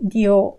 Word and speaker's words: dio: Again, a diphthong where in dio, I-O, they form a diphthong, two vowels together. Dio with a stress on the O. So the I is very short. It's just an I sound, very short.